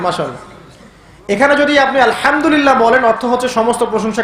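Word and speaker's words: الحمد لله: হায়ে Houthi, এটাকে বলে বড় হা। উচ্চারণ কোথা থেকে করতে হয়? মাঝখান থেকে। মাশাআল্লাহ। এখানে যদি আপনি আলহামদুলিল্লাহ বলেন, অর্থ হচ্ছে সমস্ত প্রশংসা কার জন্য?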